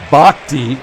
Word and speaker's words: Bochte: Bochte, I guess, is the proper way to pronounce it.